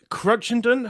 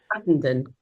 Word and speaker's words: Cruttenden: The fantastic Abigail Crunchendon. Have I pronounced that correctly? Crutendon.